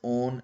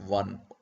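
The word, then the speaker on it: -one: own at the end it is pronounced as own not one you have to take care of this and we use the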